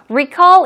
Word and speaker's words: recall: okay what about recall recall in the verb form stress goes on the second syllable recall in today's actual talk